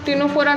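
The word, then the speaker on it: Ctenophora: इसको भी सी से ही लिखते हैं, सी से स्टार्ट होती है इसकी स्पेलिंग भी, पर इसको प्रोनाउंस टिनोफोरा करते हैं, ठीक है।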